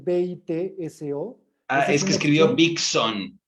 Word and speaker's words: Bitso: Taurus que mencionaste Okay Se refiere a bito no es B i t s o Ah es que escribió